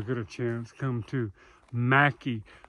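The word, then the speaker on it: Mackay: a chance come to Mackie the locals tell you don't say McKay although it's spelled m-a-c-k-a-y Mackie if you say McKay they will correct you and this gentleman right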